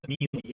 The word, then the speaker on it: melee: That's literally how you pronounce it, though. Melee is incorrect. Like, that's factually incorrect. That's not like a dialect thing. It's not an accent thing. Like aluminium. It's literally melee.